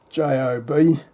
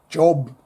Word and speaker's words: Job: book of it's spelled J O B. Australians will say Job. I've heard it pronounced Job. I think the Hebrew pronunciation would be Yov.